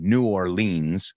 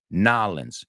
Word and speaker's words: New Orleans: So the original way I said it, which is just another accepted way, New Orleans. That's fine. New Orleans es como más lins que leans.